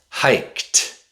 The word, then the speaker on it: hiked: t t The D usually makes a t sound with past tense verbs. jumped jumped It's not jumped. Mhm. Jumped. jumped jumped Jumped is the past tense of jump. hiked hiked Hiked is the past tense of hike.